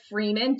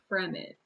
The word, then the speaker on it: Fremen: one is the fremen i thought for sure it was like freeman two e's uh which i was like hey it makes sense like they're roaming the desert and they're free like the freeman and my mom had to like gently steer me and be like from it and then the